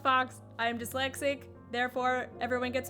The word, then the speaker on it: Faux: my name is Fox it's not Fox it's pronounced Fox I'm dyslexic therefore everyone